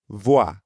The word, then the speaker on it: voyage: The oa sound at the beginning of voyage is the same as in toilette and croissant. Voi. That's right. Voi, bon voyage.